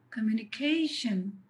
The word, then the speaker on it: communication: When you listen to the word communication, the syllable K is heard stronger, louder and longer.